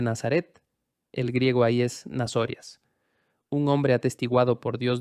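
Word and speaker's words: Ναζωραῖος: Ahora capta la forma en que pronuncio esto, nazorias. Observe que hay una O larga, nazorias.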